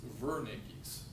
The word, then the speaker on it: Wernicke's: this broca's area and it looks like it's spelled wernicke's area but it's actually pronounced uh german-like it's vernicki's area okay so broca's aphasia